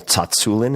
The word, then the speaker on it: Tsatsouline: And my guest is none other than Pavle Tatsulin. And yes, that is how you say it.